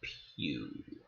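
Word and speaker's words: Pugh: Pine Harry Styles and Florence pew but it's spelled like pug so the movie was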